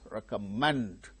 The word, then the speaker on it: recommend: on the same syllable for instance recommend recommend recomend the third syllable gain stress success success two syllables